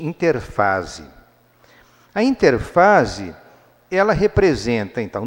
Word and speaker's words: interfase: Ou vocês vão encontrar alguns livros de biologia escrito interérfase, mas o nome pode se pronunciar mais corretamente, interfase.